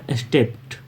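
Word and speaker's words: stepped: अब यहाँ इसको राइट प्रोनाउंसिएशन होगा स्टेप्ड ट लास्ट में होगा, डी नहीं पढ़ेंगे टी पढ़ेंगे सॉरी।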